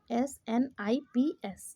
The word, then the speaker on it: SNP: Option A, डीएनए में SNP single nucleotide polymorphism यानी सिनेप्स के रूप में उच्चारण करते हैं इसको, SNIPS, ठीक है।